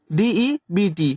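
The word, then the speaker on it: debt: रहेगा शरीर रहेगा जैसे डेट तो इसे हम क्या पढ़ेंगे डेट पढ़ेंगे डेट इसे हम क्या पढ़ेंगे डेट यहां बी साइलेंट रहता है जिसका हिंदी मतलब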